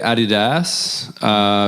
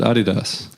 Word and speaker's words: Adidas: I say Adidas because the German guy who made it was Adi Dassler, and that's why you pronounce it Adidas.